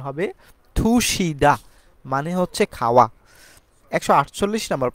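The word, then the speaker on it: 드시다: মত উচ্চারণ করা হয়ে থাকে আমরা সেইম ভাবে দোষিদা না বলে এটাকে সঠিক উচ্চারণ হবে থুশিদা মানে হচ্ছে খাওয়া 148 নাম্বার প্রশ্নতে আমরা দেখতে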